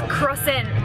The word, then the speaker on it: Crossan: How do you pronounce last name as an Irish person? I said Crossan. It's Crossan. Crossan.